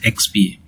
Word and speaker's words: EXBA: called as Extended Business Application or EXBA, which we pronounce as XBA.